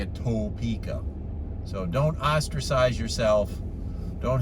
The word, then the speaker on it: Topeka: there but here i am oh i was pronouncing it wrong ta pica it's not toe pica it's topeka i was corrected many times at the rush